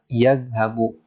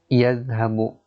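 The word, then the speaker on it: يذهب: Contohnya adalah zahaba yadhabu. Ya. Jadi kalau ada tulisan seperti ini misalnya ya, za, ha dan ba, misalnya Ahmad ya. Maka ini sudah dipastikan cara bacanya adalah yadhabu ya.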